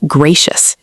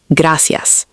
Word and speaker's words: gracias: Mistake number three, pronunciation. For example, gracias is not gracious, it's gracias.